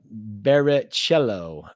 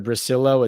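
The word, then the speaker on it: Bricillo: um tudo says Pat Giants new o line coach name in Italian pronounced Carmine barichello mate ah all right so instead of Brillo it's barichello oh man I gotta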